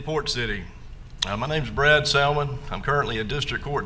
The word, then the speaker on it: Salmon: In the next race, we have Judge Brad, I don't know if it's Salmon or Salmon. I pronounce the L, but I've been called worse. Okay.